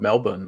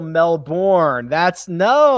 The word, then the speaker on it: Melbourne: That's the way the see you all these English speakers, these uneducated Americans, they want to say Royal Melbourne. It's Royal Melbourne. You got to say it like the Australians do, like the Aussies do.